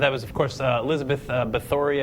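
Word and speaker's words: Báthory: was of course Elizabeth beori I believe is the pronunciation there she is um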